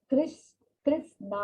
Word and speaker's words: कृष्ण: जो कहा जाता है कि जो कृष्णा है, कृष्णा इज the correct for कृष्ण, और